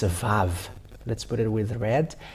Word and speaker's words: Vav: It's not wow, but Vav. That comes, where the wow comes from, and it is surprising because if it's W and A, it's a Va. Whatever you may call it, it's a Vav.